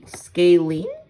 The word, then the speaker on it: scalene: it's known as a scalan triangle scalene scale scaling yes that's how you pronounce it triangles with no equal sides are